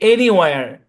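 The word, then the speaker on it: anywhere: তো এটা যদি ওয়ার হয়, শুরুতে যদি আমি জাস্ট এনি যুক্ত করি, ANY, তাহলে সম্পূর্ণ শব্দের উচ্চারণ কি? এনি ওয়ার, এনি ওয়ার, এনিওয়ার।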